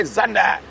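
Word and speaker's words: Xander: camera with me today, Zander, also better known as Eggsy. And his, I don't know how James quite got to it, but Zander's obviously spelled with an X, and Matanda is a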